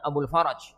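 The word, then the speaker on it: أبو الفرج: Sebagaimana hal itu disebutkan oleh Imam Abul Faraj. Nanti ya, roknya di fathah ya. Ojo disukun, gak karuan nanti bacanya. Roknya di fathah. Abul Faraj.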